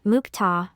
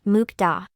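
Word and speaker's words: 먹다: foris sound in Korean there is a phenomenon of consonant ceeding final consonant resulting in for's sounds therefore for words like mukta and mukta it is more accurate to read them as mukta rather than mukda let's practice the pronunciation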